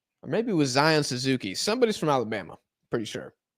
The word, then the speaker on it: Suzuki: Zion Suzuki. That boy sounded like a Zion- linebacker. He sounded like an offensive lineman. They pronounce it like Kentucky, but with a Z, not a K.